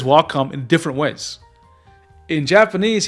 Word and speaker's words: Wacom: Sometimes it sounds like he's going more Wacom, which is how I say it. And other times it's mostly Wacom. But it was interesting hearing him say it because I didn't realize the subtleties of how it's pronounced in Japanese. And I don't speak any Japanese. But it was interesting seeing that there was a difference, right? And I think I heard the wakamu in Japanese, but again, very super subtle sound.